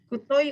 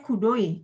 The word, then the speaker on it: くどい: Kutoi atau kudoi itu bacanya Ilham?